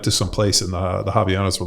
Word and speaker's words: Havaianas: Havaianas. There's no H.